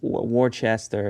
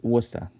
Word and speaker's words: Worcester: That's how you say that word? Wooster? Yeah, nobody will ever say it like Wooster. They'll say Wor- Worcester or something, right? Worcester, yeah. But it's for us Wooster.